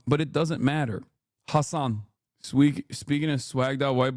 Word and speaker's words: Hasan: How do you pronounce it? I already told you it's Hassan, but it doesn't matter. Hassan.